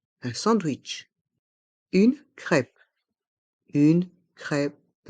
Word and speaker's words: crêpe: sandwich une crêpe une crêpe ici le P reste en suspens une crêpe une crêpe